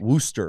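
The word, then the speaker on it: Worcester: Worster by the way Worster you don't pronounce that R Worster noer W you don't pronounce a lot of the letters in that word to be honest no especially with that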